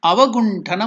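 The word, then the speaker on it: अवगुण्ठन: So that T, Avaguntana, there T, it will be pronounced as Ta, not Ta.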